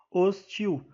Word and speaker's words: hostil: né E então Eh na palavra hostil a a sílaba tônica é a última e portanto se trata de uma palavra oxítona e portanto é a